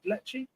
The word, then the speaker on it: Lecce: Is it Lecce?